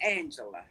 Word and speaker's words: Angelia: It's pronounced Angela.